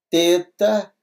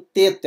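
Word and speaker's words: θῆτα: O eta, que é o E em benigno, é mais fechado, o teta é o TH, não é isso? De theos ou theos, vem do inglês think, mais ou menos a pronúncia assim, né?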